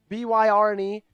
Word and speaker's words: Byrne: Byrne, B-Y-R-N-E. That kind of sounds like it might be Byrne, right?